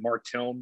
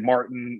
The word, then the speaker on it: Martilm: So I pronounce it Martilm. I think Pete pronounces it Martilm. We both pronounce it very differently.